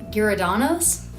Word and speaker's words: Giordano's: Now, I think my pronunciation might be off, but I'm pretty sure you pronounce it Giordano's.